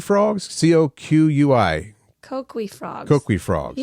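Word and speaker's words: Coquí: Kokui frogs? Coqui.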